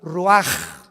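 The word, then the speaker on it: ruach: capítulo y exhaló Isaac el Roach así como suena se pronuncia la ciah en hebreo como jota roag se les halló y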